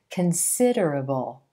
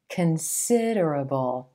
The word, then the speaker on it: considerable: A lot of non-native speakers will put the emphasis on the first syllable in this word, making it sound more like considerable. Considerable. You want to shift that stress to the second syllable and the I as in silver.